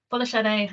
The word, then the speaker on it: Folashade: title of my slide I've also put how my name is pronounced that will come into play into why I do that in this talk um but yeah follow Shadow I can mine and so I just